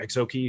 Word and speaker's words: Exookzi: EXO keys who are EXO key who I just learned you don't actually pronounce that see it's a silent Z that's how much I